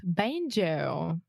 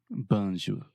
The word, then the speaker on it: banjo: Banjo, right? Banjo. In English, we say ban. Say that with me. Ban. Joe. Banjo. Yeah, and we really exaggerate that moving vowel, the O sound.